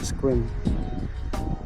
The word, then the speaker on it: Sequim: I'm not sure how to pronounce it but they say that it's squim.